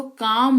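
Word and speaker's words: calm: की बात करें तो सी ए एल एम इसको को लिखा जरूर जाता है पर इसका उच्चारण जो है वो काम होता है जिसका मतलब होता है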